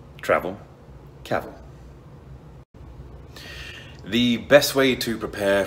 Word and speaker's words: Cavill: norway and abu dhabi cavill is pronounced like travel travel caval the best way to